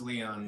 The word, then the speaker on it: Leon: Here is pronounced Leon. Like Ponce de Leon there in Atlanta.